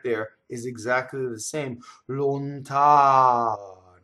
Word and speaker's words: lontano: Lontano. See, the ow is very, very, very long. The N does not interrupt it.